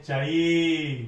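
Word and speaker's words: χ: सर ये तो पता है, साइलेंट नोट पहले वाला क्या है, इसे बोलते हैं चाई, क्या बोलते हैं, चाई, ठीक है, दादी वाला चाई नहीं है जी, ठीक है, चाई है, ठीक है।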